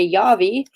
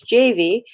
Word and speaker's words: Javi: pronounce his name properly now I used to say yo V it's javi because javi has started